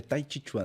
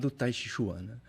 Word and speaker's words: Tai Chi Chuan: olha eh é o a pronúncia né em em chinês mesmo seria Tai Chuan né mas assim a Portuguesa taiuan e ela é uma